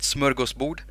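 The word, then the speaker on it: smörgåsbord: frogs we put up a smorgasbord which is you pronounce it smurga's boot and then we do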